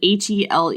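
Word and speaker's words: Helene: her boss's name is spelled h e l n e so I read it like or something like that I don't know it could be Helen whatever but the way that the the narrator pronounces it is hel which would be fine if later on in the book Josh's Mom isn't named elain e l a i n e um which is also my mother's name but anyway she pronounces them the same and I'm like they're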